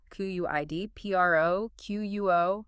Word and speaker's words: quid pro quo: Q-U-I-D-P-R-O-Q-U-O. How do we say that naturally? Quid pro quo. Slight stress on quid and quo.